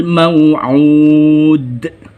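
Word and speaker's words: موعود: hukum tajwid Qalqalah Kubro membacanya memantul dengan terasa karena Kubro besar Aduh mau'ud seolah-olah ada suara seperti itu Hai contoh yang ketiga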